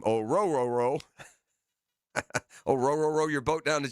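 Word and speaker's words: Orhorhoro: Orororo, that's how you say his name. Oruro.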